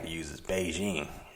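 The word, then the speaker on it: Bigen: It's almost spelled like biggin. But yeah, that's the Beijing, and it's pretty effective to me, I think.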